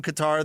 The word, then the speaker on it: Qatar: Like when people tried to tell me Qatar was pronounced Qatar, and then I watched the World Cup, and the people from Qatar themselves are pronouncing it Qatar.